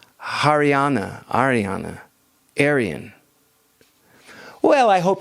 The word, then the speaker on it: Haryana: word Aryan came from oh hariana sorry I I mispronounce it haryana Ariana Aryan well I